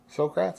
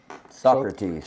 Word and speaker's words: Socrates: srat how do you say his name srats srats is that right Socrates Socrates I knew it was close is sentenced